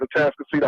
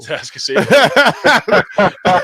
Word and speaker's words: Atascocita: Like, in a particular area that I'm in the north side of Houston at Atascocita High School.